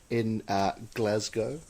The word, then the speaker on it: Glasgow: We talked about your life and growing up in Glasgow. Mm-hmm, I believe, if I'm pronouncing that correctly.